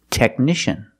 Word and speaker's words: technician: or this word technician we see the letter c before I a so we know the C is pronounced with the sh sound like shoes and show technician we also see the CH make the k sound Tech Nation technician I know my technician